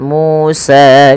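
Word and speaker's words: مُوسَى: Kemudian padafal musa bil bayyinati mu dan sa harus dipanjangkan sama ya karena ia madabii. Mu panjang dengan wau sukun, sa panjang dengan alif kecil di sini.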